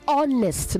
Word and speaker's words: honest: I've mentioned nepotism okay it is honest not h honest honest honestly not honestly okay the age is silent um hesitant not hesitant